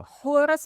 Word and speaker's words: حور: حورس ما اسموش حورس، اسمه حور، الإس دي أيوه. هي اللي اتضافت، إمم.